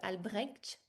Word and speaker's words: Albrecht: Et puis, comme tu l'as dit, Marie-Lise, notre cher Albrecht, on Oui, le prononce comme ça, va être avec vous aussi pour cette visite-là.